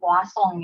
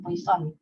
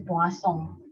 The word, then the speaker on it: Poisson: statistik, dia nyebutin bahwa ini namanya distribusi Poisson ya, bukan Poisson gitu, karena ini bahasanya dari apa, bahasa Prancis kali ya, jadi disebut bacanya itu distribusi Poisson.